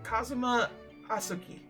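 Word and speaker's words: Kazuma Asogi: it's my best friend's name not mine it's pronounced Kazuma asuki I actually believe this armband has somewhat impot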